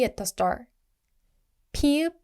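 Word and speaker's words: 피읖: 피읍 is strong aspirated P, which means more air.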